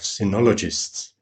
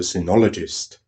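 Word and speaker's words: cynologist: the Austrian Association of sinologists theologist being a dog expert by by the way I actually had to look up how to pronounce sinologist in English and apparently it's pronounced like cynicism well how surprising is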